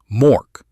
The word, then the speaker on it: Mork: Mork. Same with an M.